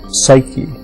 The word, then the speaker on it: psyche: Psyche is how we pronounce it now, and the word means soul.